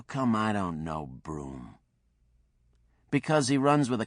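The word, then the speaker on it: Brougham: he spelled pronounced broom and he's got some money I think.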